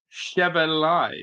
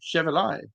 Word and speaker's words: Chevalier: It's pronounced Chevalier. Chevalier. Chevalier? Lucas Chevalier.